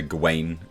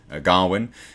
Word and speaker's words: Gawain: And of course, Dev Patel played Sir Gawain, which is how they're pronouncing it in the film. Some people say Gawain, but they're pronouncing it as Gawain in the film.